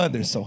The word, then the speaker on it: Huanderson: pronúncia correta é Rua Anderson. É o Anderson.